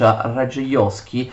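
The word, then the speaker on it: Radziejowski: the treasurer and the cinsky is the primate ray the Oscans which is spelled like this but pronounced ray the Oscans had sympathies for Sweden but and hoped to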